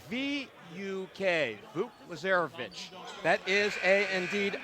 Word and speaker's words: Vuk: By the way, Vuk, his first name is spelled V-U-K, Vuk Lazarevic.